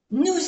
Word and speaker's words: nous: Nous avons, nous, aquí tenemos otra vez el ejemplo O-U-U y no se pronuncia la S, pero aquí sí que la vamos a oír porque hacemos la unión.